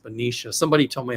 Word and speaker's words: Benicia: I always thought it was Benia, but it's pronounced Benicia.